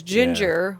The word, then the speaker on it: Jinjer: main subject matter uh ginger so anyways ginger which is spelled j-i-n-j-e-r yeah not the actual like color